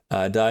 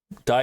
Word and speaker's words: die: Die is pronounced as D. Oh, die as D. D? Did I say it right? D? It's not die, but D?